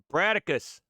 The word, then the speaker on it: Brataccas: would you pronounce that aaron bradicus all right it's like star it's like spartacus but with brat all right let's take